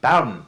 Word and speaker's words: Bowen: her last name it's Bowen I was thinking cow for some reason but that's because it rhymes with bow is also because there's